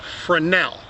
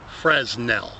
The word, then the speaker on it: Fresnel: that's another thing folks the S is silent it's for now not Fresnel sometimes I begin to